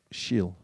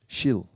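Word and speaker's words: śīl: It's pronounced with a slash over it. Shil. Shil.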